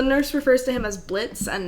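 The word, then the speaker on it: Blitzø: presumably not the Blitz the O is silent either yeah um so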